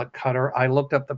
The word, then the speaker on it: Qatar: Is it cutter or guitar? It's Qatar.